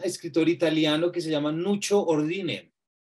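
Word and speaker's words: Nuccio: italiano que se llama Nucho Ordine. Nucho se escribe C-C-I-O, no con C-H, por fortuna.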